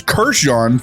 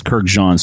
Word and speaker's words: Kurkdjian: You also got a carded sample of a Francis Kurkdjian fragrance.